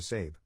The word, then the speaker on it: Sab: To cut right to the chase, I legally changed my name to Sab, pronounced like Abe, but with an S.